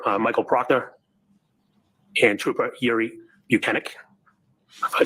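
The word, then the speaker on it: Bukhenik: Yes, Trooper Michael Proctor and Trooper Yuri Buchanan. If I said it right. You said it right. Other people have Now, not pronounced on that, Buchanan's name On that correctly.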